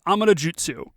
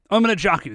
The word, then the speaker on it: Amanojaku: us this immediately but his name is Amad Jutsu right pronouncing that correctly I'm an a jaku that's all right I